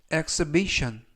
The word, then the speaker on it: exhibition: exbition이라고 발 하시면 되겠고요 이때 유의하 실점은 알파벳 h 이번 단어에서는 무음이라 발음이 되지 않습니다 그리고 앞부분에 있는 2가 x x 발음이납니다 그리고 끝부분에 있는 ton네 개의 철자가 션 발음이 나서 exbition exbition 그리고 강세는 두 번째 나오는 알파벳 아의 강세가 있어서 exbition이라고 발음하시면 좋겠고요 품사는 명사 뜻은 전시회